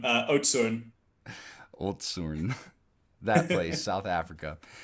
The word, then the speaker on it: Oudtshoorn: You're not going to be able to pronounce it, but the closest is Oudtshoorn. Oudtshoorn.